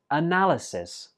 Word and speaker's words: analysis: Nine is analysis. Analysis. This word has four syllables, and notice that the fourth syllable is not pronounced I, it's pronounced a.